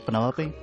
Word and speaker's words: Penelope: Is that short for Penelope? Officially, yes, but I never can be bothered with all 4 syllables of it.